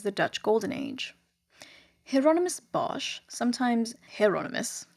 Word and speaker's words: Bosch: Bosch is actually pronounced Bos, but for the sake of familiarity, I'm just going to keep pronouncing it Bosch.